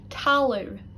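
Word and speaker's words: talamh: And another one ending in AMH, talu, talu. And that means ground, talu.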